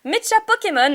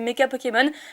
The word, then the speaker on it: Mecha Pokémon: fournie par mecha pokémon alors oui ça se dit mecha pokémon je sais pas pourquoi je prononçais meka pokémon la façon dont s'était écrit j'ai pensé que ça se prononcer comme ça mais pas du tout donc ils m'ont repris